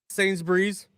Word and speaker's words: Sainsbury's: Sainsbury's. Sainsbury's. Sainsbury's. Sainsbury's. Two syllables.